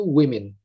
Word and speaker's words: women: Bacanya agak beda, yang tunggal itu woman, tapi yang jamak itu women.